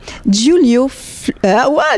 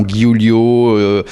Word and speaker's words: Giulio: déjà le prénom le prénom est pas toujours facilement prononçable les gens font guulio Roulio à l'espagnol ilessayent pant c'est c'est